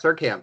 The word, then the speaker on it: Seurkamp: I am here with David Seurkamp. Is that right? That's correct. Surkamp, yeah. Seurkamp. It's a Okay. very hard name to spell and pronounce.